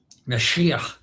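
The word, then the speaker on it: משיח: The Jewish would actually have a sort of a guttural sound at the end. Mashiach. That would be that in Hebrew. That Mashiach. That's the original.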